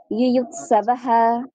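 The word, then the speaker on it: যুযুৎসবঃ: হ্যাঁ হ্যাঁ দাদা, এটা উচ্চারণ শুধু হয় হবে। ইউয়ুৎসবঃ ইউয়ুৎসবঃ। আচ্ছা, ধন্যবাদ বলে দিদি। উচ্চারণ হ্যাঁ একটু কমল উচ্চারণ হতে হবে।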